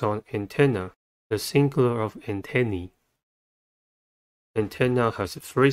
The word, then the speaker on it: antenna: episode let's focus on antenna the singular of antennae antenna has three syllables and the stress is at not at